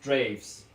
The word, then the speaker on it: Draeves: But yeah, with Drees pronounced Draves.